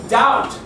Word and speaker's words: doubt: Y como te he dicho, no se pronuncia todas las letras en inglés en general. So, debt. ¿Cómo se dice? Duda. Doubt.